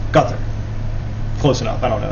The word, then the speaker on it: Qatar: And uh me and another friend of mine couldn't seem to figure out how to pronounceqatar and he told us that it's gut.